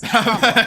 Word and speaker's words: Kamala: You said Kamala, and it's Kamala.